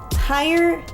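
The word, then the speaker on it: Haier: it's going to be called the higher Elegance that's h a i e r so I'm pronouncing it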